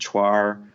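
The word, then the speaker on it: 串儿: Other things like chuar, Chuaner, it's pronounced chuar.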